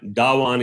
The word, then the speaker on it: Dhawan: gowan that one is as we pronounce in hindi but dawan is the american pronunciation but productivity is a